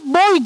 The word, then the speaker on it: Boii: Bakın Latince, yani Boii nasıl bu o yani okunur? Bu açıkça boy diye okunur.